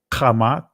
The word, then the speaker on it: Kemet: Kemet, 1, or Kemet, excuse me if I pronounced it incorrect. I'm used to saying Kamat, all right, from a Hebraic pronunciation, but peace and blessings.